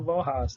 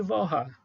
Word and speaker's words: Walras: Alguém pode dizer, pô, mas Walras, está escrito Walras ali, porque dizem as más línguas que é assim a pronúncia do sobrenome dele, né? Em francês é Walras, não Walras.